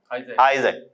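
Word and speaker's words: Isaac: हुए इसहाक या इक आइजक आइक देखिए स्पेलिंग है आई डबल एस ए सी अब इसी को ईसाई लोग क्या कह लेते हैं आइक और इस्लाम में क्या कह लेते हैं इसहाक तो कहने का मतलब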